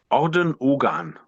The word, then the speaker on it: Orden Ogan: Orden Ogan. Ardenhagen. Yeah, whatever. Whatever. It's easy to find. You don't have to spell it to Sure.